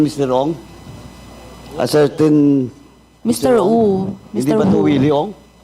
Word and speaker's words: Wu: Wu. Hindi ba ito Willie Ong? Mr. Wu po. Wu. Mr. Wong.